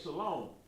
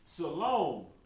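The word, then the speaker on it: שלום: It's going to be Shalom. Shalom. Now, how are we getting that long O sound out of that saying Shalom? It's spelled Shalom, but how do we get the long O out of it?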